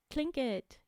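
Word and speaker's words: Tlingit: he tells us trinket it's spelled TL but I know that this one is called CL like you say CL instead clink it yay I did some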